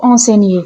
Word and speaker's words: enseigne: Attention à la prononciation du verbe enseigner. On ne dit pas en mais on prononce le gn comme un n. Écoutez bien, il enseigne.